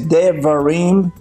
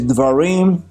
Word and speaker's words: Devarim: is called the varim some pronounce it as devarim we pronounce it as dwarim which means words things